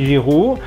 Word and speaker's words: Giroud: Sate tempe, maka Olivier, kemudian Giroud itu kombinasi G dan I berbunyi Z, adanya di video bunyi alfabet C dan G ya.